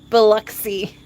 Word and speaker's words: Biloxi: Aircraft Sparky says Biloxi is pronounced Biloxi.